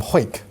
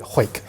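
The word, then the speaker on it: Hawick: actual Mill is uh from hoyk which is actually spelled like a Harwick but they call it hoek so you'll get used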